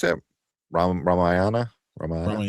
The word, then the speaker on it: Ramayana: This one is uh how you pronounce that? Ram Ramayana.